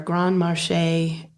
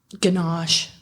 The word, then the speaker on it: ganache: There was also a recipe for a Grand Marché. I think I'm saying it right. Ganache.